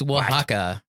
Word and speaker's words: Oaxaca: today it's so pretty it's spelled a walk sicko yes it's it sounds like a space science fiction game set in southern Mexico its Oaxaca it's a cardan dice